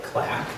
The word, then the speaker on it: CLAC: CAC and I said is that how it's pronounced cuz I was worried the you know the presentation I would continue to say CAC and everybody would look at me strangely she